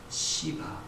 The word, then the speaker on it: 시바: 이때 물어보겠을 때에 이때 사울의 종이었던 시바, 발음 잘 하셔야 돼요. 잘못 되게 말씀하시면 욕이 됩니다.